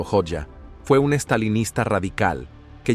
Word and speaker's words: Hoxha: extraños de la historia hoxa pronunciado hoja fue un estalinista radical